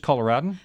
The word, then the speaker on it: Coloradoan: this is from The Coloradoan Coloradoan uh you can tell that I wasn't born in Colorado I have trouble pronouncing the it's just colorin the name of the